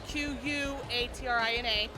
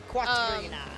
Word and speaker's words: Quatrina: It's spelled with a Q, just like Katrina, but Quatrina. Quatrina.